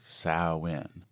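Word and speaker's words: Samhain: we are interested in is saline pronounced sauwin despite what Glenn Danza would say which literally translates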